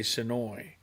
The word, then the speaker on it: Senoia: So if you don't live here, you say Senoia. But if you live here, if you grew up there, you say Sonoy.